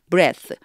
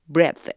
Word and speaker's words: breath: 생명력 활력 이럴 적에는 breath breath 이렇게 들려요 그래서 th 발음이 위에는 이거 발음기호 하면은 이런 소리 있죠 이게 성음이 그래요 유성음으로 소리가 나고 밑에 거는요 쓰 이래서 무성음으로 소리가나요 그리고 가운데도이 발음이 나지만